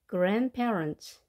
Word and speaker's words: grandparents: grandparents이지만 발음표를 보시게 되면 D 발음이 되지 않습니다. 이렇게 자음이 3개가 나열되어 있는 경우는 가운데 스펠링이 발음되지 않는 경우가 많습니다. 그래서 grandparents 이렇게 발음하면 되겠습니다.